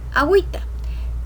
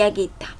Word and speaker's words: agüita: Ejemplo, agüero, agüista, agüita. Si no tuviera las diéresis, dijéramos aguero, aguista y aguita.